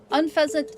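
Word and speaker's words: Unfezant: It's because you say unfazant. What? You're the bad influence. No, I say that's the correct one. Unfasant is the correct pronunciation.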